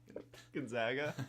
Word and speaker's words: Gonzaga: How do you pronounce it? Gonzaga.